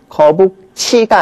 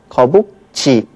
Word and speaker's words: 거북지: 그래서 이걸 줄여서 쓰면 거북치가 아니라 어떻게 발음되느냐 하면 거북지 이렇게 쓰는 거고요.